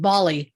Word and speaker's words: Bali: Bali, I guess.